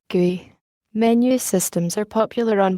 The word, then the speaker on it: GUI: or graphical user interfaces giz pronounced gui menu systems are popular